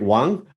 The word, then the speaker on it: Wang: And just before we started recording, just asking how to pronounce it properly, whether it was Wang or Wang, right?